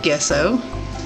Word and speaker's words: gesso: I did pre-treat the canvas with gesso.